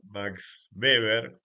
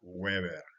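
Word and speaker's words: Max Weber: B se pronuncia así en alemán la W nuestra se pronuncia como B sí claramente en inglés eso sería Weber y de ahí que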